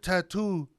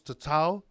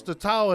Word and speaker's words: tatau: back in the day that couldn't pronounce tatau, because that's how Samoans said. They couldn't pronounce tatau, and then the best they could do when they got back to all these other places that they sailed to was that like, oh, tattoo.